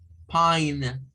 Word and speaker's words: pine: Entonces, nótese que en ellas lo que la diferencia es una letra en la escritura. Es la letra E. En la mayoría es la letra E. Pero esta letra E hace que, que la vocal que está aquí suene diferente.